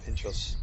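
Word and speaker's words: pintxos: And on my first night sort of in Bilbao, I went out, thought I'll go and get some pinchos, is that how I pronounce it? Yeah, pinchos.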